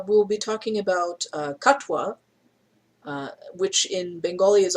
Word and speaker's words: Katwa: be talking about uh katwa uh which in bengali is also is also spelled it's spelled like k-a-t-o-y-a but it's pronounced as katwa um so it is